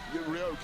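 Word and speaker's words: Rioja: Rioa. Yes. How do you pronounce it? Rioa.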